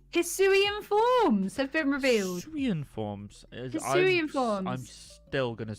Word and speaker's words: Hisuian: Hisuian forms. I'm still going to say that is how you pronounce it.